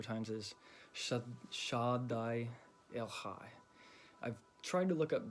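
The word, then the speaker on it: שדי אל חי: But it has more, when I looked up the Hebrew pronunciation of it, it was more of a ha with a H, just the H, like Shaddai El Chai.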